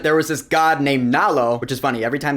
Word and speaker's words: Nalo: was this God named nalo which is funny every time they say his name I almost think they're saying Nala like Nala from The Lion King no it's nalo with an O so nalo is a